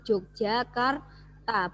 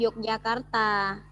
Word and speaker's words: Yogyakarta: Jogja udah nah Yogyakarta Yogyakarta itu ejaan lama bacanya itu Jogjakarta bukan Yogyakarta contoh lagi ada ejaan